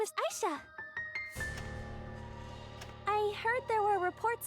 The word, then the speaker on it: Ayesha: Yeah, she calls herself Aisha. I'm going to call her Aisha. That's how it's spelled. That's how I'm comfortable saying it. And the video game itself goes back and forth on it.